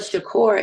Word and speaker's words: Shaxor: it like U Tupac Shakur I think his is spelled a s h a k r but Shakur is s h a x are and it's